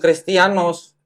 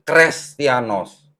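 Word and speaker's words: Χρηστιανός: kalau ini menjadi seperti Huruf huruf H atau Eta bacanya ini dibacanya Bukan kristianos tapi krestianos beda arti ya itu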